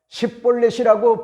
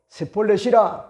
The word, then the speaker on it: 십볼렛: 한 사람 한 사람 십볼렛이라고 발음하여 보라고 그렇게 명령을 합니다. 그러면 다른 지파의 사람들은요 얼마든지 십볼렛이라고 하는 것 같은 발음을 하지만은 에브라임 지파의 사람들은 독특한 것 같은 그런 이방의 언어에 영향을 받아가지고 십이라고 하는 것 같은 그런 말을 뭐지합니까? 하기가 힘들어 셋볼렛이라 그렇게 이야기를 하게 됩니다.